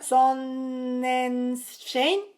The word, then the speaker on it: Sonnenschein: Se pronuncia Sonnenschein, pero no sé alemán tampoco.